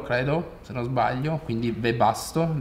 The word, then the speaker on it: Webasto: se non sbaglio quindi webasto la pronuncia io dicevo all'inglese webasto perché la w è un po come un out all'inizio stavo